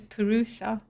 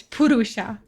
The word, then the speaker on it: Purusha: I've been pronouncing this Perusa. Apparently, it's Purusha.